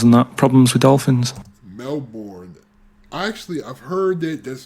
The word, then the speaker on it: Melbourne: Nick, who's emailed from Australia, right, Melbourne, he's been going on about dolphins and that, problems with dolphins. Melbourne.